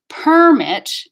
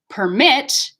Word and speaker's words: permit: is for permit so permit permit permit that's the same segmentally but permit is the noun do you have a driver's permit that's a noun permit is the verb are you permitted to